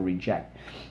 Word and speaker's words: reject: and I reject and I want you to put the accent on that second syllable for reject and you're going to